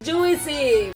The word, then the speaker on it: juicy: So we don't hear this I, this in juicy. Not juicy, juicy.